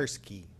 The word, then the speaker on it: Kursky: Kersey, is that correct? Kursky. Kursky, I missed a K.